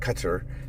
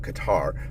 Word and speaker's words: Qatar: Some people call it cuter, some people call it Qatar, but they say that it's a first syllable emphasis.